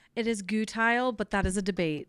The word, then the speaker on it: Gutheil: Gutile. Gile. You know, I was getting like a My family pronounces it gutile. My family that's a Swiss Deutsch, they pronounce it Guthile.